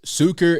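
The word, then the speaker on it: Sucher: And okay, the name of the shop is Zucker and Sons Star Wars Shop. That's in Aberdeen, Washington, and that's spelled S-U-C-H-E-R.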